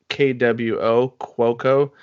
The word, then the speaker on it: Cuoco: cook cuz it's easier but Ryan Seacrest was calling her Cuoco kwo cuoco so that's how it's officially pronounced but the actress is